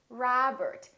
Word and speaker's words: Robert: with the letter o make sure that you don't say oh it's not robert it's robert it's not mcdonald it's mcdonald all right let's practice repeat